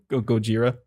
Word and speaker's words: Gojira: sorry what guerrilla how do you say it Gojira Gojira the original Godzilla yeah holds up to